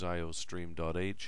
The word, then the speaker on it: iostream: Now after that, because this is a C++ program, written in the ANSI 1998 standard, we need to include iostream. [pronounced eye-oh-stream] Any program you write this term will need to include the iostream input/output library.